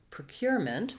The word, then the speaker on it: procurement: vowel then we have the same pattern in procurement with the stress again on cure and we just have to add the mint syllable here we have voww for letter e you can almost say it with no vowel at all move very quickly from the m to the N mint procurement you'll also